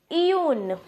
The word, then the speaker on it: une: It is Iyun. It will be pronounced as Iyun in French, and I have written